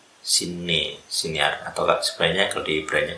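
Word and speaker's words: שנער: Kemudian ris, sinar. Jadi sinar. Harusnya double n ya, kan mudah diucapkan dalam bahasa itu.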